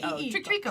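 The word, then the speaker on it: Treeko: Oh yes, T-R-E-E-K-O. like Trico.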